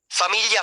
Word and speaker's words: famiglia: i The combination gli creates a special sound in Italian similar to the li in the English word million.